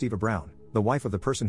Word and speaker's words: Eva Braun: She asked why not, and I reminded her of the historical figure Eva Braun, which is pronounced Eva Brown, the wife of the person who started World War II and probably one of history's most evil figures.